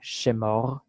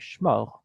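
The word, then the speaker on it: שמור: Okay, now Sephardic would use a vocal schwa at the beginning, shemor, but because we can pronounce it together, we will say shmor and make it a consonant cluster there.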